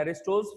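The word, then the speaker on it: Aristotle: एरिस्टोटल नहीं बोलते इसको, टी साइलेंट हो जाता है, एरिस्टोटल्स फैलेसी, ठीक है।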